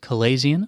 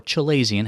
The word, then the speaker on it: chalazion: the eye doctor's office a calasian or chelian however you want to pronounce this it's the same thing basically a calasian is